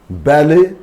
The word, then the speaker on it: ballet: For example, ballet, waffle, bouquet, gum, and billet doux, the love letter, billet doux.